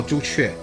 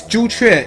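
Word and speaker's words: 朱雀: Oh, Zhu Chue. I should have figured. It's so funny, like it's Zhu Chue in Chinese and Suzaku in Japanase.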